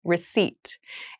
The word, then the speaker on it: receipt: meal room service meal receipt receipt receip receipt has a very interesting spelling there is a p in the spelling of this word but we do not pronounce it the pronunciation is receipt a receipt is a